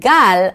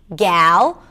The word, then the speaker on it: Gal: So, the beginning of the word 'Gal' actually sounds like 'gut' - "I have a gut feeling", right? The spelling doesn't help because a lot of people see the A in the name, and then they think, "Okay, it's probably 'a' as in 'cat' - 'Gal', or 'aa' as in 'father' - 'Gaal'. But no, it's right there in the middle.